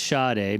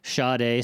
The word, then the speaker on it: Sade: Her name is I'm I'm assuming it's Shade because it's spelled like the singer Shade. I think it's Sadi.